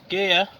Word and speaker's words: Gigha: It's pronounced Gigha, so it seems that they don't pronounce any of the G's following the first letter.